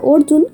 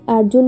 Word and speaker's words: অর্জুন: ছেলের নাম রেখেছি আর্জুন বাংলায় বললে হবে অর্জুন কিন্তু ইটালিয়ানে আর্জুন বলেই উচ্চারণ করা হবে আর আমার মনে হয় শুধু ইটালিয়ান না ইংলিশ, হিন্দি এই দুটো ল্যাঙ্গুয়েজেও আর্জুন বলেই ডাকা হয়।